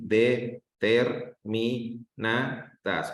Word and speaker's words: determinadas: Bueno, en determinada sería na. En na, ¿sí? ¿Sale? En la sílaba na, miren, como que tienen muchas dudas en esto todavía, ¿sí?